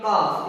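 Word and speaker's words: calf: आगे देखो एफ से पहले अगर एल है वो एफ से पहले आ जाए तो इस एल को नहीं बोलना है, इसको क्या पढ़ेंगे, काफ।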